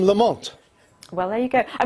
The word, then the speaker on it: Lamont: Andre you'd probably recognize most Scots would say lament he used to say lament when he was known as we per Nori and the sh in later life but after after Loretto in Cambridge it became Lamont well there you go